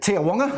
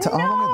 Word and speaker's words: Te Awanga: And nice pronunciation, because the locals, and those in this thing call it Te Awanga, never heard of it. Te Awanga, there we are.